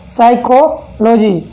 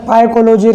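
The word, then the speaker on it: psychology: ऐसे हो गया साइकोलॉजी, साइकोलॉजी जानते हो आप, अभी से पी को मत पढ़ना, यहाँ पर पाइकोलॉजी, क्या पता क्या क्या पढ़ोगे तुम। और ऐसे यहाँ पे हो गया साइको, यहाँ पर पी साइलेंट है, क्यों, एस से पहले आ रहा है तो ये भी साइलेंट हो जाता है।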